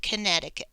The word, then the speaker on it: Connecticut: the comma after islands be careful with Connecticut it's it doesn't sound the way it's spelled spell the word connect it cut connect the New Hampshire